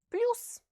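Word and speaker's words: плюс: The sound U, as in costume, is also written with a single letter in Russian. And to pronounce the Russian sound properly, you have to exaggerate the rounding of the lips.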